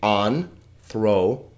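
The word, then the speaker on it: ἄνθρωπος: So in this case, it would be anthropos.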